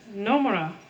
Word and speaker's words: Nomura: They don't have an R sound. Nomura. It's very light.